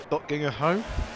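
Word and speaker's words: Döttinger Höhe: Well, the first part is called Dottinger Höhe. Yeah. Is how it is pronounced.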